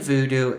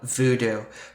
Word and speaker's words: Vodou: other Voodoo okay so even though it's pronounced the same it does have a different spelling and all these different